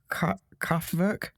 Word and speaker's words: Kraftwerk: I've listened to the pronunciation a few times, and the R's are kind of soft, so it's like Kraftwerk.